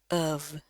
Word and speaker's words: of: Ya, hati-hati di sini bukan F ya, tapi pakai V, dan V-nya itu harus bunyi dari pita suara. V, of.